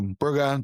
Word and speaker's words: Bruges: We now face Club Bruges or Brugge, depending how you want to pronounce it, in the Champions League on Wednesday night.